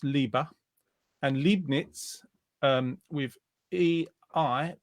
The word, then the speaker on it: Leibniz: He's saying it's pronounced Leibniz because of Leibniz. the E and I ran the other way. So not Liebe, Leibniz.